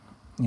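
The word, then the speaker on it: μ: have a population of your family whatever so if it's everything then it's the population and so again we call that we pronounce it you like what a cat says you alright and again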